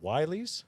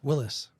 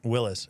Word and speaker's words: Willys: It's a Wiley's. Willis. A Willis. Thank It's you. spelled with a Y, but it's still pronounced Willis. Willis, and it is 4-door.